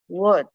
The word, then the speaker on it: Łódź: The scenes were of appalling hunger and destitution in the Lodz Ghetto. The Polish pronunciation is Łódź.